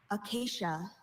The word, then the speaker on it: acacia: First siblings of Jason, your word is acacia. Acacia. Can I have all the information relating to this word? Sure. Acacia. This is the only pronunciation that I have.